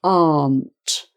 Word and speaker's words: aren't: is a funny one you might think it's aunt aren't but it's just aren't it's a bit like well it sounds the same as that word which is a family member aunt and uncle it sounds exactly the same as armed so that's a way of remembering how to pronounce it so aunt wasn't weren't